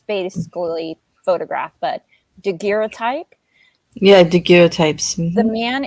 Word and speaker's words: daguerreotype: he shows Phoebe of his, I'll try to pronounce it one time, it's basically photograph, but daguerreotype.